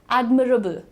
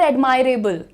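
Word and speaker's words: admirable: कैसे प्रोनाउंस करना है? एडममरेबल। एडममरेबल इट इज नॉट एडमायरेबल एडमायरेबल कुछ होता ही नहीं है।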